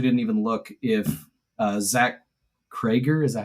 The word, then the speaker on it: Cregger: I'm not familiar, and I actually didn't even look if Zach Cregger, is that how you say it?